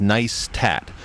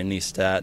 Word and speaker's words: Neistat: they they spell out they spell it out phonetically on their website and and they point it out in in their movies as nice tat um give me some